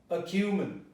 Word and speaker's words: acumen: So you say acumen. It transforms into a schwa.